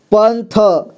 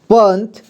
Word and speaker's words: पंथी: पांच पांच पंजा पंजा पंथ पंथ पंथी प में अं की मात्रा पन इसके बाद थ में है बड़ी की मात्रा थी ठीक है पंथी रंक रंक बनदा ब